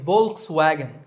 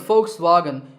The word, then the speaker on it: Volkswagen: personally used to say Volkswagen but I have since learned that the initial V is actually pronounced as an F sound in German so the first part